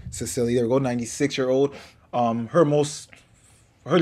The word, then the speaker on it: Cicely: Cicely, there we go, 96-year-old.